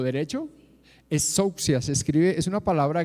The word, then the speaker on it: exousia: Con S, exousia.